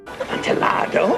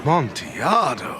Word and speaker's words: Amontillado: Amontillado, Amontillado, Amontillado? Amontillado, Amontillado, Amontillado, the Amontillado, the Amontillado. They mispronounce Amontillado the entire film.